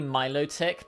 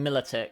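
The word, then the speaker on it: Milotic: I recognize that it's probably Miloic because it's like the Venus de Milo on Milic. But I can't not call this thing Militic.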